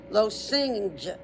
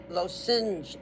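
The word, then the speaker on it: Lošinj: L O and then like sin, like you committed a sin. S I N J. Lo sing. Lo sing was the next island.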